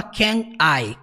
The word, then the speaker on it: can I: i e nunca fala can i can i não você junta você fala can I Até mesmo porque o termo can termina com som de n can can E junta com i can i então can